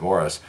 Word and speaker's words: Maurice: Robin's twin brother Morris it is pronounced Morris it looks like Maurice but he pronounced it Morris had an intestinal problem